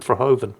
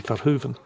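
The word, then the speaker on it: Verhoeven: name properly this time I keep calling him F Hoven well it's dutch should be fuen um his English science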